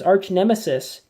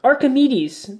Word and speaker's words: Archimedes: like to see that arch a Metis I thought was arch-nemesis our Archimedes is how that's pronounced it's like a gargoyle